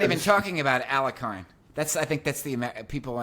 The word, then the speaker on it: Alekhine: I say Alekhine. I know that in Russian it's pronounced different. Yes, there is up to now there is a dispute if it is Alekhine because the IE, the EE is IE. Alekhine or Alyokhin.